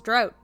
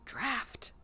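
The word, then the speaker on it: draught: about night work and it's spelled draft d-r-a-u-g-h-t and i read it and i was like that says drought and then i looked at it again i was like that says draft who who spelled it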